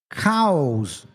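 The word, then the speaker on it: Kauz: You spell it K-A-U-Z, cows, or chaos.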